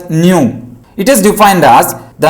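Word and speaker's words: ν: This is pronounced as nu.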